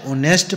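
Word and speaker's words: honest: my neighbour is dash ऑनेस्ट person ठीक है ऑनेस्ट में एच साइलेंट तो एन का यूज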